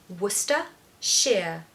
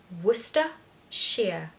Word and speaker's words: Worcestershire: mean nothing I want you to just say Worcester sheer Worcester Shear this is one of the most scary and commonly mispronounced or just avoided words in the English